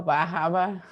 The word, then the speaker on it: Bar Harbor: amazing place to live you got to say it right though baja exactly yeah down east